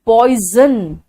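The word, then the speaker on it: poison: एंड पॉइजन में एस का pronunciation ज आ रहा है, पॉइजन।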